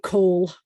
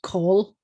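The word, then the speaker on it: כל: This one is extremely common and it will always sound like call, and it rhymes with all, call, which is the way Marla learned it. It's not like coal, although some people pronounce it that way.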